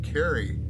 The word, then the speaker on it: Carrie: baltimore mr larry b my first name is carrie which rhymes with larry gary my apologies let